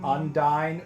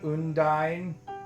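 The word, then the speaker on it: Undyne: I've never heard anyone say undine like that. Undyine. Unine. I think that's a Japanese pronunciation of it. I think they say unine. They don't say undyine in Japanese for sure.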